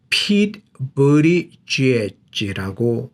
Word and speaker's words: Pete Buttigieg: 많은 사람들이 이 발음을 어떻게 하는지 몰랐어요. 본인이 얘기하기 전에는. 자, 저런 것은 뭐 사람 이름이기 때문에 그 사람이 제대로 알려주기 전에는 모르는 것이죠. 그런데 어쨌든 Pete Buttigieg라고 발음해야 된다고 합니다.